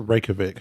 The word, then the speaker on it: Reykjavik: has a penis Museum I think it's a Reykjavik that's why I said Reykjavik has a penis